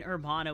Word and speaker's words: hermano: student ID oh the the ER in hermano was pronounced the same way you would pronounce the air in error got it I'll keep